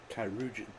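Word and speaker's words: chirurgeon: But it's imperative we get him inside and into the care of a Kairoujan without delay. Kairoujan, that's how you pronounce that word.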